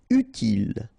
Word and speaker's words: utile: Utile, final E not pronounced, so utile.